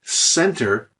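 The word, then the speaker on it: центр: prefers a c so not Center but Center a TS sound or here how would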